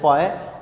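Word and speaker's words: phi: Greek language का word है, pronounce आपने इसको करना है फाई।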